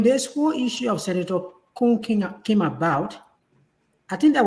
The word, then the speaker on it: Koung: Can we say Koung will have, how do you pronounce Koung again? You say, everybody say Koung, you say Koung? Koung, yes.